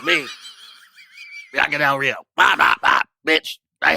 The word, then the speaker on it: Bianca Del Rio: Bianca Del Rio. Bop, bop, bop. Bitch, I hate you. You said Branca Del Rio. You said her name in 2 syllables.